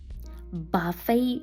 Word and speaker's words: buffet: Buffet dinner. Тут дуже часта проблема в учнів саме з вимовою, бо на письмі ми бачимо літеру ті, а вимовляємо звук й.